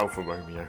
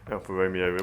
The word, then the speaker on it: Alfa Romeo: from Europe and wants to know how to pronounce Caterham properly. Also, Alfa Romeo. Not Alfa Romeo, there it is. Alfa Romeo.